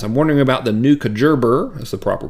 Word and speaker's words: Kajabi: Okay, Robin Colucci, awesome last name, says, I'm wondering about the new Kajerber, that's the proper pronunciation.